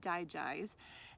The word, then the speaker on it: DiGize: So the next blend is called DiGize, and if you remember the system, the digestive system that it supports, you'll know how to say the name DiGize.